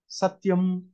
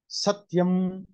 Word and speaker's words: satyam: For example, from the previous lives only, Satyam, Satya is a word, but it can give two different meanings depending on where you put stress, whether it is on the first syllable or the last syllable. Satyam, Satyam, like Jnanam, Jnanam, Jna Adi Udatta.